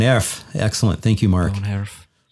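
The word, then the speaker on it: woonerf: Von Erf. I need to keep working on my pronunciation of I keep calling it Woon Erf and our Dutch friends are saying, no, Von Erf.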